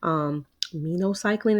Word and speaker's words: Minocycline: Minocycline is how I pronounce it, the one that's MINO cycling.